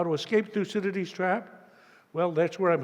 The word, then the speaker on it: Thucydides: a mouthful and that many people have difficulty pronouncing this fellow's name so let's do it in unison one two three through Citadis one more time one two three loose in